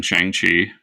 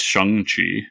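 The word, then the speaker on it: Shang-Chi: reveal is that um we are all mispronouncing chiang chi because it's shang chi oh shang shi yeah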